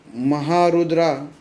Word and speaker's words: महारुद्रा: आ गया भीमरूपी महारुद्रा यह महारुद्रा का जो उच्चारण ना वह नीचे की स्वर में जाता है क्योंकि उसके अंदर